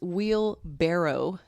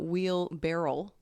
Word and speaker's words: wheelbarrow: makes Winnie a poo I just learned today that it's will that it's wheel barrow not wheel barrel I've been saying wheel barrel the whole time wheelbarrow but it's barrow